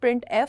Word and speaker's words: printf: यू can call it printf, simple उसका pronunciation है वो ये है. printf takes an argument.